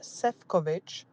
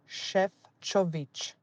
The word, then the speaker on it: Šefčovič: It's not Sefcovic, it's Šefčovič.